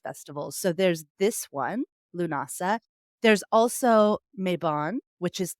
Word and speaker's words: Lughnasadh: it and so I have heard it said lunasa um so that's how I've heard it or llamas is another name for it which I think is a much easier name so llamas lunasa because it's celebrating the god Luke l-u-g-h or